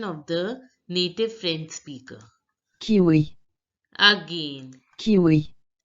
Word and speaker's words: kiwi: speaker in French look the I is pronounced as e as I already told you so it has to be pronounced he says kiwi kiwi now listen to the